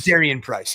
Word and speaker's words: Jadarian Price: Jadarian Price, yes.